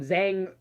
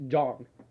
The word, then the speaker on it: Zhong: Everyone calls him Zhang, Zong, but it's Jong. Because in Chinese, it's Jong. Well, It's The Zhong. ZH. It's Zhong.